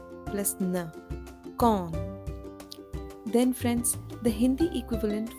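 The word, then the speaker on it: कौन: equivalent of the word who is gone it's pronounced as K plus o plus na con then friends the Hindi equivalent for the word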